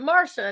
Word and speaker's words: Marcia: I'm used to My mom's like, "We're gonna spell it Marcia, but we're going to pronounce it Marsha and make everyone confused."